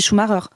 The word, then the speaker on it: Schumacher: Donc, personne ne dit Michael Schumacher en France. Hein. Tout le monde dit Schumacher. Tout le monde est d'accord pour le prononcer à l'allemande.